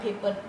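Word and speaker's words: paper: ठीक है, दोबारा आर आ रहा है पेपर, आर नहीं हम प्रोनाउंस करेंगे, ई आ रहा है पीछे, वॉल आ रहे हैं तो हम ई प्रोनाउंस नहीं करेंगे।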